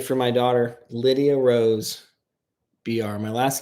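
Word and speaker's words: Biar: my daughter Lydia Rose BR. My last name is pronounced BR. Like the letter B and the letter R, but it's spelled B I A R.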